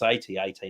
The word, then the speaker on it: AT-AT: Yes, it's AT-AT, not AT-AT.